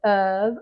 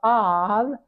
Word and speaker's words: of: word is strange because that F sounds like a V you can say of or of but this is a v sound and then there's this